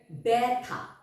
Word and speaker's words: ব্যথা: সেটা একটু দেখে নাও বয় জ ফালা এর উচ্চারণটা ব্যাভাবে আমরা করবো যেমন বয় ফালা থ আকার ব্যথা ব্যথা বয় জ ফালা বধ আকার দন্তন্য ব্যবধান